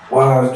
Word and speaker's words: Yz: phone, he was like, Wise. I'm like, nigga, what? He's like, Wise, think about it. He was like, keep the YZ, but pronounce it as wise.